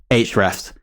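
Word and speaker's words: Ahrefs: our insanely great sponsor ah refs or HRS as the name should be pronounced now HRS are a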